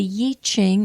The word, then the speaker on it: I Ching: some of you have heard it pronounced Yi, like Y-I or Y-E-E, Ching, C-H-I-G, and it has to do with changes. So the Yi Ching or the I Ching is what is called the Book of Changes.